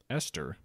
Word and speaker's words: Eostre: Some cultures pronounce it Esther, Yeah, even though it's spelled Eostre.